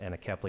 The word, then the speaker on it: anencephaly: My wife, our first child had anencephaly, or some pronounce it anencephaly.